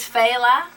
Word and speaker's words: Fela: Okay, because I've heard people say Fela, and all types of stuff, so I figured we go straight to the source. It is Fela.